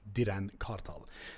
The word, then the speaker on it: Diren Kartal: That's how you say it in Turkish, Diren Kartal.